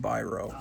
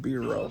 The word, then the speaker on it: Biro: This is, of course, the Lev Gleason Company and publisher of Charles Biro. I've been told it's pronounced Biro. I always thought it would have been Biro, but anyway, their main best-selling title was Crime Does Not Pay.